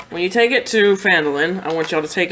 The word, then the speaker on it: Phandalin: You will get 10 gold pieces each if you escort this cart to a town called Phandalin. Who? Fondling? Phandalin.